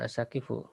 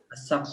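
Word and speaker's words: السقف: Nah, bukan asakifu. As-sakfu. Sakfu.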